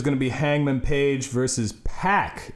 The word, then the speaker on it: PAC: pack is how they're having everyone pronounce it which is weird cuz I'm used to saying pock I'm gonna say pop